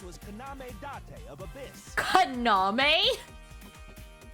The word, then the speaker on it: Kaname: It's Kaname, not Kaname. You're putting the emphasis on the wrong syllables here. In Japanese, usually from my understanding in Japanese, the emphasis is usually on the middle syllable, not the first syllable.